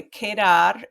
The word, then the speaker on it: quedar: how to say it the Q and The U is a Ka sound like the letter k in English so anyway kedar has many uses in